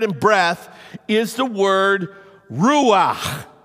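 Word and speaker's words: רוח: in the Hebrew and it's pronounced Ru if you ever if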